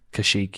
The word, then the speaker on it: Kashyyyk: Kashyyyk, yeah.